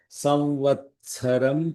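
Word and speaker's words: संवत्सरम्: There is no Mahaprana in Samvatsara. But when you pronounce it, it should sound like a Mahaprana. Therefore, the opposite of it. There is no Mahaprana here. Samvatsaram pratyakshena.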